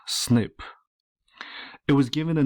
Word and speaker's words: SNP: In this video, I want to present to you something known as single nucleotide polymorphism, or SNP, pronounced snip.